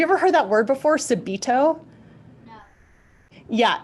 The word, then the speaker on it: subito: piano have you ever heard that word before subido yeah it's spelled SU be I tio and what that